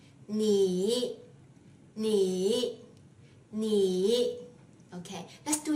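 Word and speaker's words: 你: me it means you when this word stands alone or occurs before a pause you need to pronounce it using the same method first div your tone to the lowest point of your vocal cords and then rebound it lightly like this knee knee knee okay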